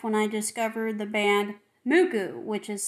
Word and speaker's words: MUCC: saved my life when i discovered the band muku which is spelled mucc but in japanese it's pronounced mugu it saved my life and then i just